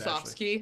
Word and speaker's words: Musovski: Danny Musovski in Seattle. I'm sure I butchered that. Musovski.